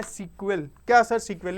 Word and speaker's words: SQL: में बोलते हैं मैं इसको सीक्वल बोलूंगा सीक्वल का मतलब होता है एस क्यूएल यानी इसका अगर फुल फॉर्म जानना है तो आपको स्ट्रक्चरर्ड क्वेरी लैंग्वेज क्या है सर?